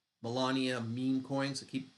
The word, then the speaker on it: Melania: validators made over $25 million in Trump and Molina Melania meme coins I keep saying her name wrong for some reason um um ethereum core